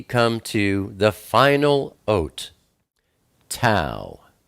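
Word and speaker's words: תו: And then we come to the final oat, Tau. Tau is the number 400, and it's pronounced like a T, like time.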